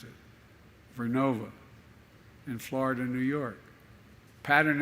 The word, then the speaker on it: Vernova: going to go into turbines made by GE Verona excuse me I mispronounced it vernova in Florida New York pattern energy will use